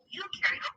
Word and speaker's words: eukaryote: rhymes with no, and u in eukaryote rhymes with do.